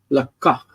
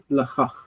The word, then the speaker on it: לקח: For some reason, this word, you're pronouncing the kuf as kha. Lakach, lakachta, velakachta, and also lakach, not lachach. Okay. Kuf is always hard.